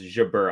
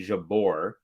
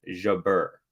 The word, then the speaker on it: Jabeur: name is ALS Jaber so she says Jaber I was saying Jabor which is incorrect it's Jabber but um Kat says